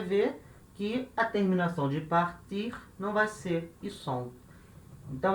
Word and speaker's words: part: Tu partes. Repara, é igual à primeira pessoa. Je pars, tu pars. Terceira pessoa do singular, il, elle, on. Part. Se fala igual, par, mas se escreve diferente. Escreve com T.